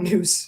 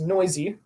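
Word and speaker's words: Nuse: So it's not Noose, even though his last name is spelled N-U-S-E, is Noisy, which is interesting.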